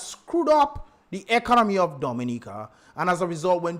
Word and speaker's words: Dominica: Yeah, but you're saying it wrong, sir. It is not people talking about Mad Dominique. People are talking about the leadership of Dominica.